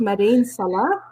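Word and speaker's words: Mada'in Salih: i cannot remember the name i think it's madin salah i don't know if i'm saying it wrong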